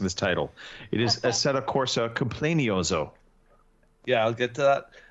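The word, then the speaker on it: Assetto Corsa Competizione: I did play a bit more of I would just like to point out that it is you're incorrectly pronouncing this title. It is Assetto Corsa Complenioso.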